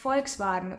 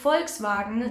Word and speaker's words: Volkswagen: stands alone it's pronounced F fou like the short version of Volkswagen FV or FV golf which is by the